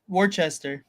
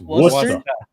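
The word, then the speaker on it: Worcester: Warchester. Warchester. You're all wrong. It's worester.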